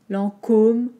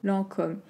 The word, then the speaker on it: Lancôme: voulez lancôme lents comme lancôme lancôme donc juste attention aux envoyés nasale vous connaissez maintenant lent en comme l'an comme hockey et combien de marx